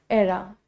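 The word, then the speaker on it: era: कुछ बच्चे इसको ईरा ईरा बोलते हैं। The correct pronunciation is एरा।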